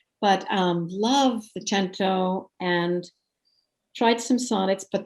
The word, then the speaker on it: cento: gotten into the cento some people say sento i like the italian pronunciation but um love the gento and tried some sonnets